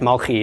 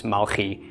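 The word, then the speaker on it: Malki: it is in fact Mulkey it's not melech deck it's Malky that is how it's pronounced yeah the King James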